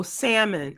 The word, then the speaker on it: salmon: show um salmon oh salmon uh without no no l and yeah you mean